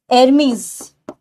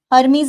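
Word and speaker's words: Hermes: एरमीज. हर्मीज नहीं बोला जाता है इनको, एरमीज इज द प्रोनाउंसिएशन.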